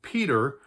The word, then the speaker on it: Peter: For instance, the name Peter in in American English, we actually do pronounce the ER quite distinctly, as an URR, whereas in British English